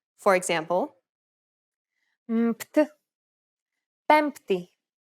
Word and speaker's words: Πέμπτη: For example, the combination of M and P in Greek is never pronounced as B when followed by a T sound. Every letter in this case is pronounced separately.